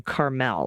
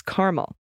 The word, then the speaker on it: Carmel: you use the pronunciation Carmel like in California but it's caramel like the flavor this is the state